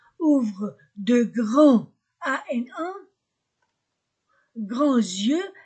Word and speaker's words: ouvrent: Dit Monsieur Legrand, Hélène et Pierre ouvrent, OUU, la terminaison ne se prononce pas, ouvrent de grands, ANA, grands yeux, S entre deux voyelles, grands yeux.